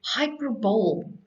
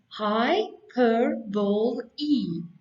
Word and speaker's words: hyperbole: When you read the word hyperbole, you read hyperbole, but it is pronounced hyperbole, hyperbole.